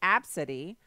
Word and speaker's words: Abcde: now this chick actually has she said it's pronounced AB City which if she want to name her daughter